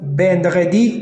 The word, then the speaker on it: vendredi: Vendredi? No. Vendredi. D'accord? That's number five. Which one of the... Oh my throat. When pronouncing perhaps too many French words, sometimes it's hurting here.